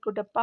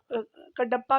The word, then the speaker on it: कडप्पा: धड़वाल हो गया फिर कुडप्पा हो गया कडप्पा भी बोलते कुडप्पा भी बोलते हैं जो भी आप प्रोनाउंस कर देंगे प्रोनंसिएशन जो है वो आप अपने अनुसार कर सकते हैं विंद हो जाएगा